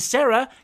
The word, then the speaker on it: Serah: But the four of the rest of you are safe, and Sarah, which is spelled Serah, by the way, because they can't do anything right.